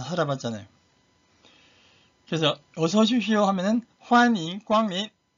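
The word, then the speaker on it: 欢迎光临: 그래서 어서 오십시오 하면은 환영 광림 환 할 때 올리십니다. 올리세요. 환영 광림. 우리 한국 사람들이 일성 발음할 때 우리는 어머니 하잖아요. 어머니 도레미입니다. 근데 중국의 어머니는 마마 높은 음이에요. 솔 1승입니다. 1승. 마마 마찬가지로 환인 광민 발음 주의하세요.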